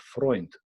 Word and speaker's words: Freund: In German, it's called Freund. Freund, friend, sounds very similar, is spelled very similar,